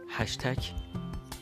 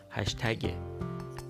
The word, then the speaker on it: هشتگ: بر وزن تشتک خب هشتک غلط هستش به د اینکه یک صداش رو عوض کردن و یک صدای کاملا غلط جایگزین کردن درست این کلمه هشتگ هشتگ البته من دارم به فارسی تلفظ می‌کنم انگلیسیش را هم حالا تلفظ خواهم کرد پس کرد پس کرد پس هشتگ نیست هشتگ هشتگ بر وزن تشتک خب دیگه در همون